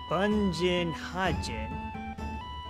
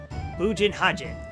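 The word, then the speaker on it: Bugenhagen: Bunjin Hajin. Bujin Hajin. Okay, so that's how you pronounce it.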